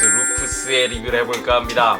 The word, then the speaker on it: Lupus: about the machine’s name In Korea, there are many ways to call the name Lu-Pu-s, Lu-Peo-s, or Lupus(pronunciaiton) In my opinion, I am going to pronounce as Lupus because the word has a meaning of wolf in Latin.